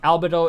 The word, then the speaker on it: Albedo: there is a pattern and albedo is completely unstressed which is why it sounds wrong yeah it's not something